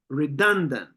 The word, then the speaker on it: redundant: second syllable very good redundant redundant okay you can feel how the stress is on the second syllable done redundant redundant number